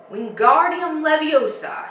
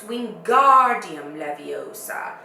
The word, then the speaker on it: Wingardium Leviosa: having much more look Wingardium Leviosa he shouted waving his long arms like a windmill you're saying it wrong Harry heard Hermione snap its Wingardium Leviosa make the GAR nice and long you do it then